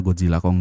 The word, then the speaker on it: Godzilla x Kong: Nah, X di situ kan pada dasarnya nggak dibaca ya. Jadi dibacanya tuh simply Hunter x Hunter aja sama Spy Family aja. Terus kenapa ditaruh? Apakah di sini pembuat filmnya juga wibu dan sebenarnya disebutnya cuma Godzilla Kong doang gitu?